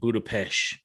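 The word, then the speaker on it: Budapest: black widow and hawkeye stuff and so they pronounce it budapesh budapesh well it's okay so here's what happens right it's 1993.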